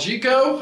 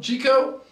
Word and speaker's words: Jeecoo: is from a company called Chico I believe is how you say it j-e-e-c-o-o Chico g o g g Co that's what I'm going with Chico I think I called